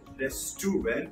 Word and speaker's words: restaurant: will pronounce this word restaurant but the actual pronunciation is restaurant restaurant See, the way I've written them in here, it's a res, and then it's going to be tront.